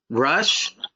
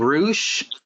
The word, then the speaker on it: Rush: I also checked out Taven versus Rush, but I noticed that they call him Roosh. What the hell's up with that? I guess that's how they say it in Mexico.